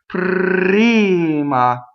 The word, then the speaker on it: prima: Prima. So we hear the beat where the vowel starts. And the R has the pitch. Prr, prr, where you're singing it.